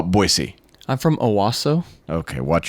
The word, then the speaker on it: Boise: Do you how remember, do you like say you've been to Boise, and they're like, don't call it Boise. Yeah. They're like, call it Boise.